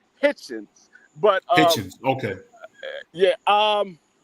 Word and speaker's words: Hitchens: You would think it's Hitchison, but it's Richardson Hitchens.